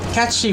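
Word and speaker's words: Cait Sith: The reason it's pronounced catchy, if you don't know, is because it's Gaelic.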